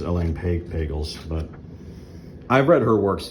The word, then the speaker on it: Elaine Pagels: I think that's how you pronounce her name. Maybe Elaine Pagels. I think it's Elaine Pagels, but I've read her works too, what he just referred to.